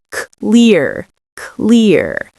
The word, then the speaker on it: clear: Now, the way to pronounce this is you can imagine the first sound is a K sound, k, k, and then we have the next part, lear. So it rhymes with ear. Clear, clear.